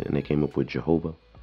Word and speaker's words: Jehovah: they came up with Jehovah, as it's pronounced in English, so it's three syllables, but it was always two syllables. But then they became three.